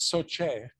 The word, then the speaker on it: SOCE: So we used to call it SOCE. SOCE.